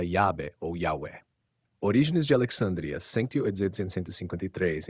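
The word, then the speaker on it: Yahweh: sobre a primeira sílaba, teria sido pronunciado pelo autor de Êxodo 3 como Yahwé. Yahwé ou Yahô, Yahu, como se pronunciava o nome do Deus de Israel?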